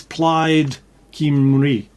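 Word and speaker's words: Plaid Cymru: out but it's all it's played kimuri which spelled Kim rule so there you are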